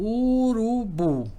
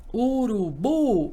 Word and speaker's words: urubu: à sílaba mais forte então se eu falar assim ó urubu Observe que a cía mais forte aqui é a última se a última é